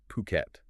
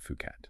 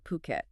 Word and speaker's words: Phuket: And just for clarity right at the start, that's pronounced Phuket, not Fuket. Right. Phuket.